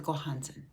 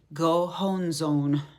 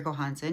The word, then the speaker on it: Gohonzon: really talking about the gohansen the gohans on all of the vowels in that word are oh go hon zone would be a slight